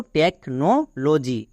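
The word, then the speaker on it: technology: যদি কোনো ওয়ার্ডে TECH একসঙ্গে থাকে তখন তার জন্য উচ্চারণ করবা টেক।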